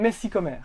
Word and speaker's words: Messikommer: Je suis incapable de prononcer. Je m'appelle Messicomer.